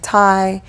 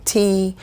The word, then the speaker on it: ti: i always say hawaiian thai they are technically pronounced hawaiian tea but either way they're